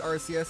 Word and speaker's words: Arceus: Arceus game, and yes, I do pronounce it Arceus, and I'm willing to admit that to many people that is wrong.